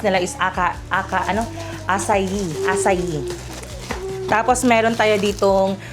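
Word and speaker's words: açaí: Pero sa iba ang pag-pronounce nila iska aka. Ano? Asayi.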